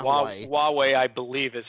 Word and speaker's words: Huawei: Huawei, I believe, is how it is pronounced.